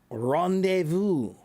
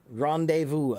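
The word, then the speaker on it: rendezvous: Rendevu. Rendevu. A a rendevu. means a meeting place, a place to meet is a is a rendevu. Okay. A lot of silent letters. That's right. That's French.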